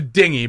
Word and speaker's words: dinghy: Well, it's a dinghy, but I mispronounced it for comedy reasons.